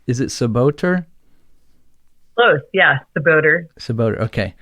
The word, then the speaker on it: Czebotar: is almost impossible in the english language to pronounce it's is it saboteur yeah the boater it's about okay it's spelled